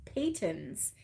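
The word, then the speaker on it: Patons: know I was calling it patents but it's Peyton's Peyton's and um then the other one was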